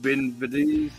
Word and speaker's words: Benavidez: Benavidez.